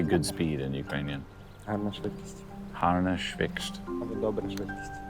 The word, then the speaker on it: швидкість: Гарна швидкість. Harna schwikst. Або добра швидкість. Harma dobra schwikst. Швидкість. Schwidekist.